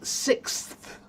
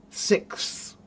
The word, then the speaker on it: sixth: It's difficult for me to pronounce sixth. Yeah, that's a hard one. So, sick. That's what it is. Sick. Sick. Sixth. Sixth. It's hard. But practice it slowly, Anne.